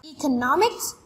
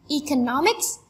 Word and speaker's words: economics: Students often say it economic and social statistics. But the right way to say it is economics and social statistics.